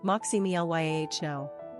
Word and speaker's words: Maximiliano: Pronunciation, Maximiliano.